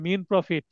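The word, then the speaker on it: mesne profit: প্রশ্ন আসতে পারে মিন প্রফিট, এটা উচ্চারণ হবে মিন প্রফিট, এস এর উচ্চারণ হবে না, উচ্চারণ করার সম্ভাবনা অ্যাকচুয়ালি।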